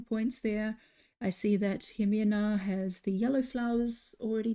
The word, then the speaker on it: Jimena: Jimena. Okay. Yeah, it's like a J, but with an X. Yeah, Okay. I don't know why we do that, but some people spell it with an X and some people with an J.